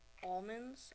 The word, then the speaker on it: almond: when people call um almonds almonds almonds almonds almonds almonds it's an almond no an L in there almond in their defense